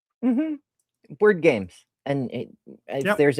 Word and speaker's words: Chartres: Chartres. So there's an RE on the end.